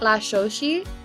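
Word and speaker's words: Cuetlaxochitl: the word is what La Shoshi oh cool yeah so it's like an actual indigenous word and it's spelled c-u-e-t l-a-x-o-c-h-i-t-o so it definitely isn't pronounced how it looks that's you know what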